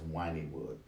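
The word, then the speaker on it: Wynnewood: always thought it was mine but these people pronounce it in Oklahoma as wining wood so I don't know if the kinds of area one is the same as this one but GW Zoo is it whining wood Oklahoma and Joel the exotic owns that he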